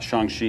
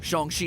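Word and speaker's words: Shang-Chi: marvel's upcoming shang chi or as mcu big wig kevin feige puts it shang shi in the legend the ten rings so shang shi is the pronunciation i'm going to be rolling with today chongqing the legend of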